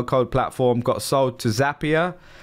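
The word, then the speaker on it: Zapier: platform got sold to zapia rhymes with happier I learned that just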